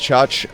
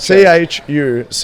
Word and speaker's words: Chuch: Her alias is pronounced Chuch. We have trouble with it as well because Church she or decides... Chuch? Chuch. Chuch, not Church.